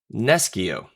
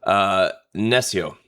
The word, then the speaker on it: nescio: So it comes from the classic Latin word nescio, or traditional ecclesiastical Latin pronunciation would be nescio.